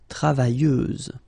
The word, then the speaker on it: travailleuse: You don't pronounce the final S, so you get travailleuse.